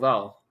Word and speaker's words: Vale: that one And- is called Val. Valve? No, the way you pronounce it is Oh, it's- Val.